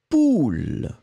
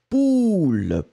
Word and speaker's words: poule: Donc le premier, c'est U, pull, d'accord, que je n'ai pas, j'ai juste mon t-shirt, pull. Et le deuxième, eh bien, c'est poule, l'animal, ou, poule, pull, poule. Voilà.